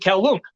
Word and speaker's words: Kowloon: I pronounce it Kowloon.